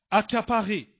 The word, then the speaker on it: accaparé: Accaparé. Donc ici, c'est 2 C qui se succèdent, mais qui se prononcent K.